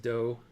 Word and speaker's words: Doagh: Jerry, you say it's pronounced Doe, Doagh. Okay.